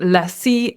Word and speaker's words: lessee: lessee and lessor, but that's not the correct pronunciation. Uh we have lessee and we have lessor.